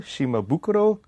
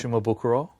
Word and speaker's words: Shimabukuro: Because I always spell it differently, but is it pronounced shimabokuro? Shimabukuro. Shima Bakuro. Like what what is it actually depending what country you're in? I guess it's pronounced different every So what do you how do you pronounce your last? Shimabukuro.